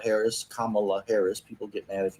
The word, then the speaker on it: Kamala: where Donald Trump has become president-elect and defeated Camala Harris Kamala Harris people get mad if you mispronounce it apparently um who was endorsed by